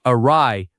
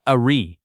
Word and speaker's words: awry: This word sounds like awry, not awry.